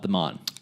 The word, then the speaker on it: Mon: Now, as far as the Monongahela or Monongalia, a good rule of thumb is people around here just call it the Mon.